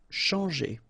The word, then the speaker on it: changer: Changer. Okay, when you combine this C and H, you get the sound sh. And after that, you've got your nasal en, chan, and then g. Changer.